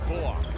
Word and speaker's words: Bullock: of his name down it's not Bullock he said it's Bullock that's a good comparison